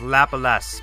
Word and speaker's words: Laplace: Well, actually, it's spelled Laplace. Laplace. But it's pronounced Lapalas because, No, I'm spelling it Lapalas.